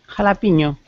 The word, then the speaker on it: jalapeño: Normally there's a little squiggle above the end. So it's pronounced like this.